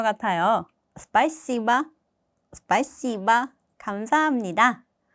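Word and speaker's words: спасибо: C를 굉장히 강조해서 발음을 하셔야 돼요. 그래서 원어민과 가까이 비슷하게 발음을 하시려면은 이거 자신있게 발음하셔야 돼요. 스파이시바 스파이시바 감사합니다.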